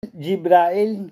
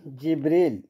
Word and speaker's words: জিব্রাইল: জিব্রাইল, জিবরিল এই 5 ভাবে তার নাম উচ্চারণ করা হয়।